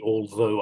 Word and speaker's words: although: I pronounce the although. I come from southern England, so I do the TH with my tongue sticking between my teeth and pressing down on it.